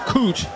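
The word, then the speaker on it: Koht: they'll say the play loses about a yard his last name is spelled k-o-h-t it's pronounced cooch now Heffley is in a quarterback for Middle Tennessee hefley with a handoff that gets a yard out to the 30.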